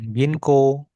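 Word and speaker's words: 銀行: Ginko. H. Jadi, O-nya aja ginko. Heeh. O-nya enggak usah dibaca.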